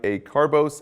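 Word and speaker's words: acarbose: nclex alpha glucosidase inhibitors ending in oats like a carbos and precose guys they rhyme with gross since they cause massive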